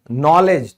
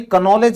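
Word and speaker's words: knowledge: फिर है ज्ञान, नॉलेज, तो आपने इसको कभी कनॉलेज बोला है, नहीं ना, क्यों, इस रूल की वजह से, नॉलेज यानी कि ज्ञान।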